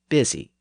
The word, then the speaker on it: busy: busy bu u y it's spelled in the southern manner with a u but it's pronounced in the northern manner with an ey sound busy and that happened as